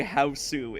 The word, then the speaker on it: Hausu: Yeah, technically speaking, you pronounce that word house, but they say Hausu in the movie, and it helps differentiate it from other things called house.